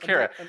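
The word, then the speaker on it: Qi'ra: Beckett, L3, and I'm not going to pronounce her name. Kira? Amelia Clark. Is it Kira? Kira. Yeah. Yeah, it's just Kira.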